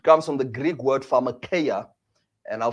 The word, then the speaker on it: pharmakeia: It comes from the Greek word pharmakeia, and I'll spell that for you.